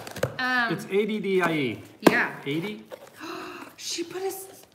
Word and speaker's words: Addie: Addie rhymes with caddy. Oh, Addie. It is Addie. A-D-D-I-E is Addie.